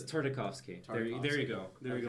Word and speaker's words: Tartakovsky: Tartovsky. It is Tartovsky. No, okay. It's not Tarkovsky, but Here, it's No, not it's use not Tartovsky. It's Tartakovsky.